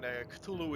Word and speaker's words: Cthulhu: Cthulhu is how pretty much most people pronounce it, but apparently there's a different pronunciation. For the need of this video, we won't go crazy. We'll just call it Cthulhu.